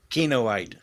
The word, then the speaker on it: Kinoite: Kinoite.